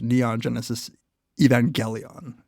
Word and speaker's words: Neon Genesis Evangelion: do an episode on the anime TV series Neon Genesis Evangelion, as I believe it's pronounced.